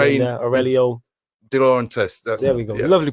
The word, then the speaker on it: De Laurentiis: De Laurentiis. There we go. Yeah. Lovely pronunciation, because I would Di have butchered that.